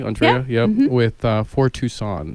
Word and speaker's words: Andrea: Am I pronounce that correctly? Andrea?